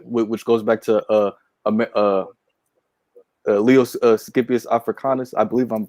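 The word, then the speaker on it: Scipio Africanus: All right, and also Africa, which goes back to Leos Scipius Africanus. I believe I'm pronouncing that correct.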